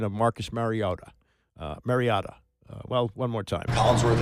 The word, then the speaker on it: Mariota: Collinsworth and Tirico kept saying Mariota. Is that actually the right pronunciation? Like, what is the right pronunciation? Mariota. I think it's been said over the years like Mariota, which is incorrect, and it's pronounced Mariota.